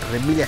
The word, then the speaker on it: Remilia: final contra remilia Scarlet remilia su carita bueno es que así se pronuncia en japonés y esta vez estamos